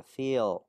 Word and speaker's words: feel: sửa giúp em ha, là cái từ y dài là phải cố gắng phải cho nó thật dài ra và đọc chậm lại, chứ không được đọc là field, phải feel.